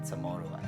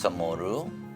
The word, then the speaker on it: CHamoru: spelling CHamoru. As we know, CHamoru is usually spelled or before it was traditionally spelled with a CHAMORRO, right?